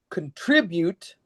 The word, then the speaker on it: contribute: contribute, In fact, so in when we have syllables, we rank them strongest to weakest. contribute, Sorry. In this case, contribute. contribute. You see the hard accent here, the minor accent here, and then no accent here.